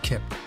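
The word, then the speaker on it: Qalp: his name is kip spelled q-a-l-p but it's pronounced kip if you mispronounce it well they call him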